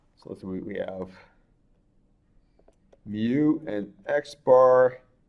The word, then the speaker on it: mu: loves we use we use a Greek letter pronounced mu and that is the mean of the actual